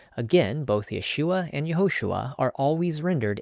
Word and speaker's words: Yeshua: The first letter to the farthest right is called a yode. It makes a Y sound as in yellow. Under the yode are two horizontal dots. This vowel is called Sarah. This vowel makes a long a sound as in say. The yod and sarah together make yay, hence Yeshua.